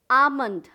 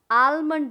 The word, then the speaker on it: almond: उसी तरह से एल से आमंड, आलमंड नहीं, आमंड, एल साइलेंट है, लेकिन हम अगर प्रोनाउंस करें ALMOND, आलमंड नहीं, आमंड, एल साइलेंट है।